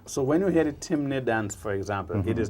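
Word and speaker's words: Temne: the people uh that known as timney chimney t-e-m-n-e t-m-t-e-m and in karakou they pronounced it temene but it's chimney in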